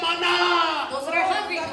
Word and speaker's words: maná: ¿Quién quiere maná? Con acento en la A.